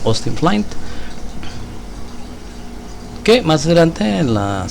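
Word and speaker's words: Austin Flint: de austin flight se escribe austin flynn se pronuncia hosting plant que más grande en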